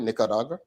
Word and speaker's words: Nicaragua: Costa Rica and Nicaragua. Did I pronounce it right? Nicaragua, but it's good. I can't roll the tongue, man.